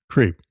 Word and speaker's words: CREEP: So it's CRP, but it's pronounced creep.